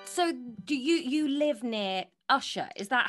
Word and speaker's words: Ushaw: So, do you live near Ushaw? Is that how I'm pronouncing it? Yeah. Ushaw.